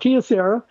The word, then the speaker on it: Kyocera: Leslie, it's called Kyocera, and it is a DuraForce.